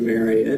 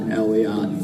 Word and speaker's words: Marriott: It's the same way with Marriott. It is not Elellott. Marriott. It is Elliot. Marriott. And so the correct way to say it is actually Marriott.